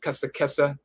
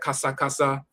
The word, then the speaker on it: kesa: So to chatter foolishly, kes, which is kesa. We pronounce that kasa.